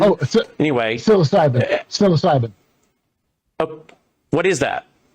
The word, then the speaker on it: psilocybin: Uh fizzilopen ps i l o c y b i n. Oh anyways. Psilocybin.